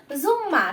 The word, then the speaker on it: জুম্মা: আগেই বলেছিলাম ম থাকলেও কি হবে তার উচ্চারণটা করতে হবে তাই না, জুম্মা।